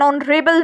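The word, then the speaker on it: honourable: ऐसे वर्ड्स से पहले जिनमें H साइलेंट होता है, जैसे कि an hour, an honest person, N ऑनरेबल मैन। अब उसके बाद जो नेक्स्ट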